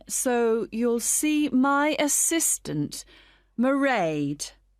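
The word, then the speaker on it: Mairead: It's M A I R E A D. Merade. Okay, got that. It's not a name I'm familiar with. It's an Irish name.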